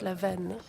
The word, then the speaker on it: Lavesne: Rémi Lavesne, this magician, it's Lavenne, don't pronounce the S, he's from Toulouse.